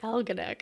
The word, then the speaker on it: Algonac: Yes, you can use my name, and I'm looking forward to hearing you pronounce the name of my hometown, Algonac. Like almanac. Like Algonac.